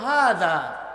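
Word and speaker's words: هذا: কালু তারপর শব্দ হলো হাজা হাজা জালের উচ্চারণ জিহ্বার আগা আর দাঁতের আগায় লাগিয়ে বলতে হয় হাজা আর সে বলে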